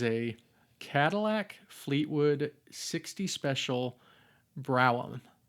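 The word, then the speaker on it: Brougham: Now we see Kananga's car, which is a Cadillac Fleetwood 60 special brow. Did I say it right? Broome.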